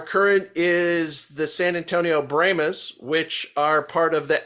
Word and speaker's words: Brahmas: Yes, and they're pronouncing the Brahmas. Some of us, we pronounce it Brahmas, but they call it the Brahmas.